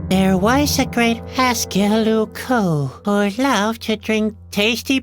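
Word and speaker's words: Loucaux: Luco doesn't really rhyme with Bordeaux. It's spelled completely differently. Really? Luco is spelled L-O-U-C-A-U-X. You can't write limericks like that.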